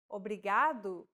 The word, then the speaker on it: obrigado: here in lesson two don't pronounce it like an english r don't roll your tongue listen to how ana is pronouncing this sound think of the quick tapping motion your tongue makes as it strikes the top gum ridge in words like ladder or butter one last time obrigado